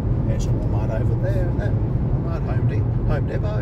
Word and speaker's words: Home Depot: over there that home Home Depo or Home Depot if you want to pronounce it like that and the magn